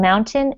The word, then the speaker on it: mountain: pretend that mountain that the a in mountain is silent pretend the word is